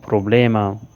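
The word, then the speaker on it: problema: मुझे प्रॉब्लम नहीं नानो प्रॉब्लेमा। यहाँ प्रॉब्लम को लोग गलत तरीके से प्रोनाउंस करते हैं, आपने इसे सही दुरुस्त अंदाज में प्रोनाउंस करना है, प्रॉब्लेमा।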